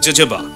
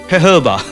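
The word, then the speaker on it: jojoba: ও জে বি এ, জোজোবা, হ্যাঁ জোজোবা, বানান দেখে মনে হবে জোজোবা, কিন্তু আসলে হবে হেহবা।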